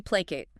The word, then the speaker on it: placate: Okay, 9th verb, to placate. P-L-A-C-A-T-E, pronunciation. Placate. Stress on the first syllable. Pla. 2 syllables.